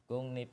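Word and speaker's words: 국립: Gungnip, ingat ini dibacanya nian jadi dibacanya gungnip.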